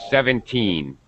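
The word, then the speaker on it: seventeen: the beginning 70 but normally when we say 17 we say we say it with the stress on the last syllable 17 like that 17 this is so we can tell the difference okay between you know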